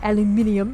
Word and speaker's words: aluminium: on a piece of aluminum foil or aluminium as the brits say and then um again